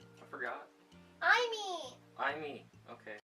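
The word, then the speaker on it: Aimi: Imee. Okay. Imee? I bet he's thinking, Imee a new girlfriend. And it is spelled A-I-M-I.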